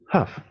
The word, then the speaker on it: half: En rouge, nous avons half. Half. Alors là, la L ne se prononce pas.